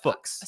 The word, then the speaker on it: Fuchs: It's like books. Fuchs. You could say it F-U-C-H. There are multiple. There are better ways. You could say it like Fuchs. There's obviously the profane way of saying the word, which is funny, but I don't think it's correct. It's Fuchs.